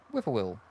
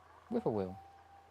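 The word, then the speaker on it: whip-poor-will: that how it's said isn't it like I know whiffer will but isn't it whip or wh it is whip wh will huh there you go whiper will I thought it was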